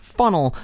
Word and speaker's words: Faneuil: to another this is faneuil hall in colonial times the name was pronounced as funnel but with the name